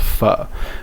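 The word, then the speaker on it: phở: she's eating is called fuh right it says pho but it's actually pronounced uh this is like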